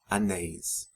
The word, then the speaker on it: anéis: Anel becomes anéis. Papel, papéis. Lençol, lençóis. Notice the accents in and the open pronunciations of the vowels in the endings of nouns ending in EL and OL.